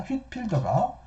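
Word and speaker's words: Whitefield: 1738년 웨슬리 형제를 따라 미국으로 왔던 조지 화이트필드지만 흔히 휘트필더라고도 발음합니다. 휘트필더가 가장 이름난 설교자가 되었다.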